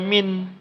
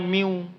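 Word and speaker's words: مِنْ وَلَايَتِهِمْ: Maka jangan lagi dibaca min, tapi cara bacanya miu, bukan min.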